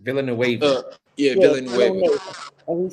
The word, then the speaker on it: Villanueva: verse, and you're fighting Arthur Villanova. Is that how you say his name? Villanueva.